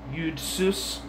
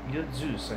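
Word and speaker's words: Jud Süß: fabulously wealthy Jew, from Yudsus to the current Rothschilds and a handful of Jewish Hollywood moguls. Footnote. Josef Sus, excuse me, I pronounced his name wrong, Yudzus, I suppose it says.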